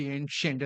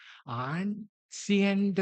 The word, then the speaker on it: ancient: ഇപ്പോഴെനിക്ക് പറയാനൊരു പ്രയാസമില്ല, ANCIENT, ഏൻഷ്യന്റ്, അതിന് കറക്റ്റായിട്ട് ഉച്ചാരണം. പക്ഷെ അന്ന് എനിക്കറിയില്ല ഇതെങ്ങനെയാ ഉച്ചരിക്കേണ്ടത്. ആൻസിയന്റ് എന്നാണോ, എന്താ ഈ പറഞ്ഞതിന്റെ അർത്ഥം അറിയില്ല.